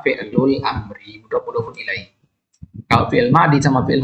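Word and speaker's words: فعل الأمر: kemudian Amri fi'lul Amri ini pengucapan yang benar ya Jangan katakan alfi'lul Amri yang benar adalah fi'lul amriai kalau fi'il Mi sama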